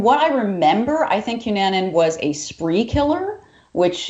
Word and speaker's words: Cunanan: I had a request actually, not to throw this right on you, but we had Andrew Phillip, and let me pronounce this. Cunanan. Cunanan.